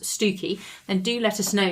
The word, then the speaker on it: Stiffkey: Well, it's written Stiffkey Blue. It could be pronounced Stoo-key Blue.